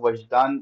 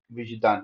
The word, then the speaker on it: وجدان: دیکھا وجدان۔ ٹھیک ہے، میں نے اس کو وجدان تلفظ کیا تھا، وہ تلفظ غلط ہے، صحیح تلفظ کیا ہے؟ وجدان ہے۔ اور کل ہم نے